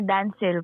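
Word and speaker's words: Danciel: Ah, Dancil po. Dancil. How do you spell that name? D A N C I E L. You You read that as Dancil?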